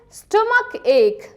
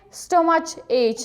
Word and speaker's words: stomach ache: Chickenpox means shere, stomach ache, stomach ache. Okay, both of these ch and ch are pronounced like k. Okay, you needn't say stomach ache, right?